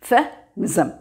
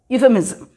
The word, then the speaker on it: Euphemism: This S will have the sound of இசட். இசட்டை எப்படி pronounce பண்ணுவோம், இஸ் அந்த சவுண்டோடு தான் இந்த எஸ்ஸை நம்ம ப்ரொனவுன்ஸ் பண்ணணும். யூ Euphemism. Euphemism.